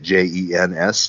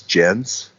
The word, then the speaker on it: Jens: how you say it j-e-n-s gens it's like a scandinavian male named jens oh yeah yes yes